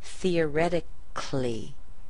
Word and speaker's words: theoretically: when you say that, we don't even pronounce the A in words that have C-A-L-L-Y. Look at words like basically or theoretically. You don't hear that A, do you?